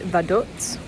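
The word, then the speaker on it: Vaduz: I think the announcing thing on the bus pronounced it Vaduts. Potentially that's how you pronounce it.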